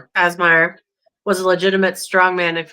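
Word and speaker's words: Kazmaier: Casmire. Kazmire was a legitimate strongman.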